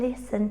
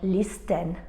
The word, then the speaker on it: listen: in castles people often listen to Christmas songs and watch ballet dances in castles which letter is silence and all these words have in common a silent t we don't say things like listen or caste Le we